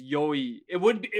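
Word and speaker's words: よい: I was gonna say it rhymes with boy. Yeah, exactly. It's yoi.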